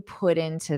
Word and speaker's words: put into: So this double or this put into, you might pronounce it as a soft D. Put in, din, put into this. And then I might also, instead of to, I might do an unstressed ta.